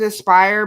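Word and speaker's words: ASPRE: we started called I we pronounce it Aspire but there's no i a s p r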